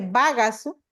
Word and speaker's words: bagasu: Esto pues en mi lengua vaca se dice bagasu. Entonces el niño pues descompone en sílabas, por ejemplo en ba, descompone en ga y también descompone en su.